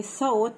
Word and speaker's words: thought: thought. ال جي اتش هنا silent thought.